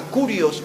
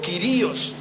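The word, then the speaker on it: κύριος: En el idioma hebreo se usaba una palabra que era la palabra kurios o quirios. Algunos lo pronuncian de las dos maneras.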